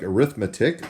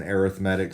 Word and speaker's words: arithmetic: So obviously that word looks like arithmetic, but when we put the emphasis on a different syllable, then we get arithmetic.